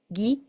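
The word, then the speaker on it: ぎ: En el caso de la gi y de la ge es como si fuera en el español la ge u i o ge u e, gui, gue, solamente que la u no se escribe.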